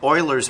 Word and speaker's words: Euler: all right lesson six one slope fields and euler's method that's how you pronounce it a slope field is a graphical